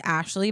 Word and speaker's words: Ashleigh: I think it's Ashley, but it's spelled ASHLEIGH.